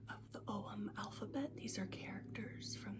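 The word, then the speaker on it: ogham: have are om staves oh is spelled o g h m pronounced om and I ordered them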